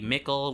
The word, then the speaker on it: Mickle: MICKLE Mikkel, which rhymes with nickel.